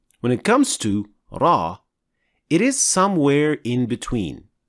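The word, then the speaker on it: ر: opening than lamb and we pronounce ra from behind the noon so raw is closer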